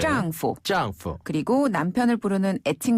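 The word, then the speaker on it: 丈夫: 요 발음은요, 위에서 아래로 뚝 떨어지는 네. 짱푸.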